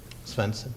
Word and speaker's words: Svenson: Am I pronouncing that correctly? Senson.